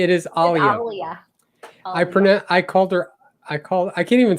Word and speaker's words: Alia: Make sure you pronounce her name correctly. It is Alia.